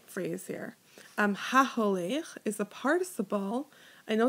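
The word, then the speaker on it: הַהוֹלֵךְ: So HaHolech is my participle. I have my O sound in the middle between my He and my Lamed, right? It rhymes with Shomer.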